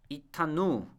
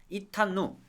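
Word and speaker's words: אִתָּנוּ: 자, 그 다음에 이타누. 자, 이타누입니다. 이타누. 물론 여기 발음을 이제 티귿으로 쓸 수도 있습니다. 티읕으로 이타누.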